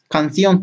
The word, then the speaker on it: canción: Siguiente palabra, canción, tiene 2 sílabas, última y penúltima. Y se acentúa aquí, entonces es una palabra aguda.